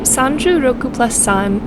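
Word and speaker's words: 36ぷらす3: The name Sanju Roku plus San is how you say 36 plus 3 in Japanese.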